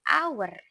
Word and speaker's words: hour: H-nya tidak diucapkan, tidak berbunyi, bukan an, tapi an hour.